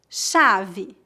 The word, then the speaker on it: chave: O CH é pronunciado como sh, como as letras SH no inglês. Veja alguns exemplos. Chave, chuva, chapéu.